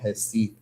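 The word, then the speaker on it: Recife: where I'm at, I'm in a city called Hesi. Hi means reef in Portuguese. So, it's spelled R E C I F E. Hifi is cool.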